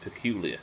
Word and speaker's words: Peculiar: unlocking stuff but the city of peculiar missouri is pronounced peculiar just like the word peculiar that's a cool name